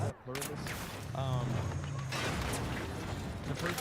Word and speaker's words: Pluribus: I keep forgetting how to pronounce it. Pluribius or something like that. Pluribus.